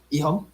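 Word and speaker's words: EHOME: Rhymes with flea bone. Navi and IG? Oh, close. Navi and Ihong?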